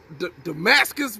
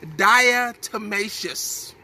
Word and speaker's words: diatomaceous: I used to call it Damascus, but it's, you know me, I don't pronounce stuff all the way. I just, especially when I'm trying to say it fast. But it's diatomaceous, okay?